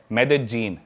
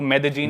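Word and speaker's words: Medellín: Colombia एक country है south America continent में, उसकी एक सिटी है मेदेजीन। स्पेलिंग में उसमें डबल एल आता है, मेदेलीन होता है, लेकिन कोलंबियन स्पेनिश में ल को ज बोलते हैं, तो मेदेजीन।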